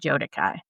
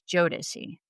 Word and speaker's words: Jodeci: I think I said Jodeci. So I apologize. It is Jodeci.